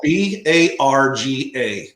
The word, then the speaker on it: Barga: to an a but it's pronounced bar g you know b a r and then g e so appreciate you asking